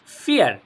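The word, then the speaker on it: vier: এবারে দেখেন, অনেকে বলতে পারেন এটা বিয়ার, বিয়ার হবে, কিন্তু না। কারণ ডয়েচে আমরা বি কে কি উচ্চারণ করি বলেন তো? ফাও। ফাও। গেনাও। আমরা বলি কি? ফাও। তাহলে যেহেতু ফাও, ফ এর মতো উচ্চারণ হবে।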